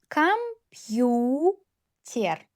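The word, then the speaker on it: компьютер: Kompyu ter. Kompyuter. Yu read as two sounds after soft sign. Ter.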